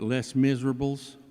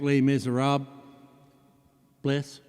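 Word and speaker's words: Les Misérables: We pronounce it less miserables but is it is in fact lay miser rob bless.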